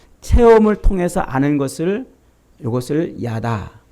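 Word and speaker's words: יָדַע: 야다라고 이렇게 발음을 하는데 히브리어로 야다.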